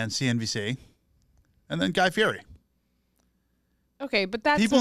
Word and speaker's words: Fieri: People think Guy Fieri's like no good. You have to watch every one. He's amazing. I stand by Guy Fieri's talent. Also, please say it correctly. It's Fieri.